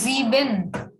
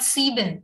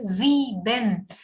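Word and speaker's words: sieben: it is zx then seven is called zbin s is again having z sound so we say z bin not c bin but z ben zeban then it is called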